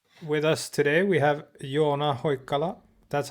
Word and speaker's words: Joona Hoikkala: I think so with us today we have you on ahoy color that's how you pronounce his name in Finnish the creator of